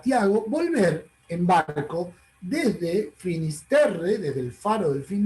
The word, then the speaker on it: Finisterre: la llamaban los romanos, en latín se pronuncia Finisterre, en galego, en el idioma de Galicia, le llaman Finsterra.